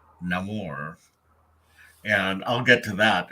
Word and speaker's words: Namor: but it's where we learn that name or pronounces his name Namor and I'll get to that in a minute